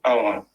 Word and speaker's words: ava: It's just ava, it's short, ava.